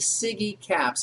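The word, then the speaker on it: SIGECAPS: of your mind it's we pronounce it sigy caps and let me just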